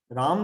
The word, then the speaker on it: राम: अब जैसे कृष्ण, फॉरेन के लोग कृष्णा बोलते हैं, रामा बोलते हैं, तो असल में तो शब्द क्या है, राम है, रामा नहीं है, कृष्ण है, कृष्णा नहीं है।